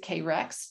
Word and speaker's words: Carex: There are a number of different genera that are in that family, but the largest genus there is called Carex. And some people pronounce it K-Rex, depends, but anything you want to call it is just fine.